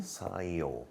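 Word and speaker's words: 사이오: How do you pronounce 4 2 5 in Korean? Sa i o. Sa i o.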